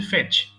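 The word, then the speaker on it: fetch: নিয়ে আসেন এই হচ্ছে ফেচ সো ফেচ মানে গিয়ে নিয়ে আসা সবাই আমার সঙ্গে বলেন ফেচ ফেচড ফেচড এটা কিন্তু ফেস হবে না অর্থাৎ ছ হবে না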